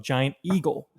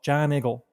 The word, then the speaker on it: Giant Eagle: video rental portion of giant eagle and for those of you who don't know uh if you have a pittsburgh accent you would call it john eagle john that's how he